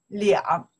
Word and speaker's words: 两: Chinese, we don't pronounce the R. That's a special number. We pronounce the 两. See, look, I say 两个月. I not say 二个月. Again, 二个月, I don't want